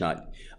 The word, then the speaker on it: naught: N-A-U-G-H-T, not. All for naught. It means nothing.